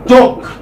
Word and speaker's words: talk: For instance, talk. L is silent.